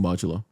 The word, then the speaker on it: modulo: Wait, what's Thus Mojuro? Mojulo, it's just the katakana way of saying modulo. Mojulo, or say modulo. Yeah, they're saying modulo, but with like the Japanese It's pronunciation.